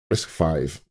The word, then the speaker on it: RISC-V: a post by Neil Jones titled Swift on risk five uh or risk V which I I have been uh I've been reading the Wikipedia article and apparently it is pronounced risk risk five now I didn't know a lot about risk